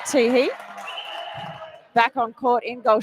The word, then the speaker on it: Tehe: I've always known Helen as Helen Tai Tai, but I I know that I'm pronouncing that wrong. So, I believe it's Helen T E Tehe back on court in goal shooter.